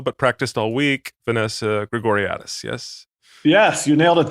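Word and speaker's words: Grigoriadis: that with uh the woman whose name i butchered in the intro but practiced all week vanessa gregoriatis yes yes you nailed at that time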